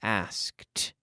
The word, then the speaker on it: asked: a T sound like asked or checked or looked in the past it sounds like a T but this is not an extra syllable we're forcing that sound